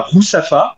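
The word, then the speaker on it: Ruzafa: aux façades coloré et ensuite on irait à rousafa donc rousafa ça s'écrit r u il y a deux orthographes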